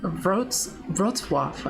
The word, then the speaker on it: Wrocław: Wrocław.